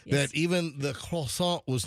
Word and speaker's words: croissant: One of the athletes said that even the croissant Or how do you say it like the French say it? Croissant. Croissant. Yeah, you like Croissant. swallow your R.